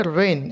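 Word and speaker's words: reign: তাহলে রেইন। কেমন? এটা হবে রেইন। এখানে হচ্ছে কি, আমরা একটা এলিজন পড়েছিলাম, মনে আছে? রেইনের মধ্যে জি এর উচ্চারণ হয় না।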